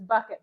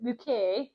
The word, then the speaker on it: Bucket: after flowers and then her last name is bucket but she pronounces it UK and it's autographed by